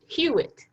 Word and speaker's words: Hewitt: very useful thank you hewitt hewitt that's how you say it right i was close yeah yeah um my question is